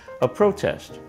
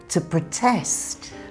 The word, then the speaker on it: protest: When it's a noun, the stress is on the first syllable. A protest. But when it's a verb, in British English, the stress moves to the second syllable, to protest.